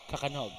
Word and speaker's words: Kakanog: And I just got confirmation on how to say his name. Kakanog. Yeah, because that's how the announcer said it. So that's how I'm going to say it from now on.